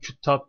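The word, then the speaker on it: كُتّاب: ya kitaben cemii teksir demiş Gerçi öylee nasıl okunur küttap diye okunur ya Küttab ben çünkü cemi teksir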